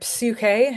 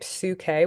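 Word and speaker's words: ψυχή: how that works now here's our next word psuk is how this would be pronounced in Greek psuk with that Pai at the beginning a feminine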